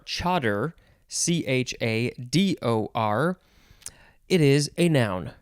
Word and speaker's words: chador: We're now at the top of page 204, and our first word is, I think it is pronounced cheddar or chador, Chador.